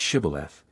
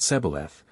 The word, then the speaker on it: shibboleth: Ephraimites passed that way, that they should pronounce the word shibboleth, but they, being of a different tribe, pronounced it sebaleth, which trifling defect proved them spies, and cost them their lives.